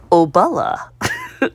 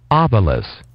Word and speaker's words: obelus: Obala. Obala, I was saying it wrong, too. Obelus.